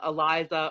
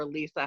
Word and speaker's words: ELISA: why it turns blue is called Eliza or ELISA however you want to pronounce that it's e Li si